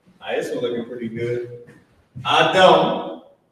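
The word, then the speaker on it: אדם: So Adam is the Hebrew pronunciation.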